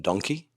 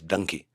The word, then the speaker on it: Dunki: It's a film called, in English, it would be called Donkey. It is Donkey, but the way a part of the country pronounces donkey in India is Dunki. The Punjabis, they say Dunki.